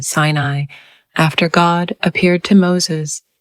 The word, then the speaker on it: Sinai: In English, the name is now usually pronounced Sinai. An alternative, now dated pronunciation in English was Sinai.